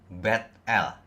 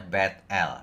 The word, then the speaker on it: Bet-El: Bet-El. Bet-El, rumah Allah. Biasanya orang sebut Betel gitu ya. Bacanya Bet-El sebenarnya. Ya.